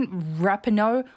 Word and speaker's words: Rapinoe: What's her Rapinoe? I always say her fucking name wrong. Rapinoe? Hi everyone, Megan Rapinoe here.